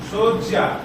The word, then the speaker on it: শয্যা: উচ্চারণটা শোন, শয্যা। হিন্দিতে বলে সোজা, বলে তো মনে রাখ, উচ্চারণ করে দেবো শয্যা।